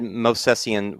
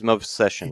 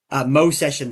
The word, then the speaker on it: Movsesian: I have said Movsesian way too many times in the past, and it is Movsession, right? Mo session, that V is silent.